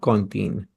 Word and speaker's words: cantine: Cantine. C-O-N. Cantine. The pronunciation is cantine, but the spelling is same as in English.